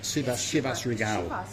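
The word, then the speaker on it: Chivas Regal: how' you say it shivas Regal that how you say it yeah and of course it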